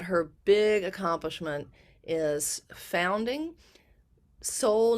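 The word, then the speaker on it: SOL: big accomplishment is founding Soul Nation, and that's spelled S-O-L Nation, in 2018.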